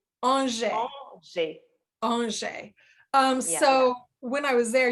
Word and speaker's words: Angers: It's Angers.